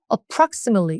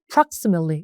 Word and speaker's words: approximately: 같이 외우는 게 좋고 요것도 똑같이 강세가 들어가는 게 아니라 approximately 이쪽에 강세가 있어서 어도 잘 안 들리고 틀리도 잘 안 들립니다. 그냥 approximately 이렇게 외우시면 되고 발음도 대략 이렇게 하면 좋아요, 여러분들.